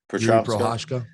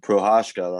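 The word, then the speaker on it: Procházka: But I just think, like, speaking of ninjas, this Yuri guy, I can't pronounce his second name. Prochazka. Yeah, Prochazka, that's the one.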